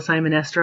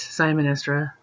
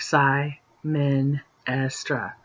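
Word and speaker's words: Symenestra: is where all the Simon Esther are um I don't know why you guys pronounce them so weird seeing these three or whatever you say it's Simon estra like Psy men Astra okay so um Lavette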